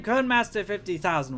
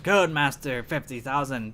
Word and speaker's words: Codmaster: Because I thought without the letter Y, it just sounds like code. Of course, it sounds like it's supposed to be an E in there, but the E is silent, it doesn't show itself.